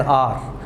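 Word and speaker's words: hour: We have been reading the newspaper for एन आवर। आर इसको pronounce कर रहा हूँ ना मैं, घंटा, तो आर अलिफ से जो साउंड शुरू होगा उसे कहते हैं वोवल साउंड।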